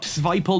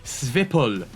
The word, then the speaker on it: Svipul: Now, Svipul, not Svipul, not Svipul, it is Svipul.